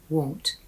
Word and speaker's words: won't: Because won't has a hard O sound. O won't. want has a soft o sound a want.